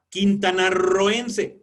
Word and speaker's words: quintanarroense: Quintanarroense, suena fuerte y sin embargo son dos.